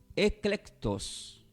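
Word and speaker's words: ἐκλεκτός: este está del griego del griego y se pronuncia como eclectus es la e la c de kilo la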